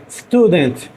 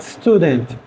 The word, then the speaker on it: student: A transcrição que eu boto entre barras, eu coloco um I pequenininho para vocês lembrarem de pronunciar esse T. Não com tanta ênfase, mas falar student.